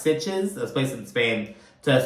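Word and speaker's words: Sitges: arriv to uh s it's called I it's pronounced sitches this place in Spain to spread M's ashes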